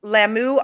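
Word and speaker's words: Lamu: to hunt any protected animal in kenya kenya's lammu island is that how you say it yes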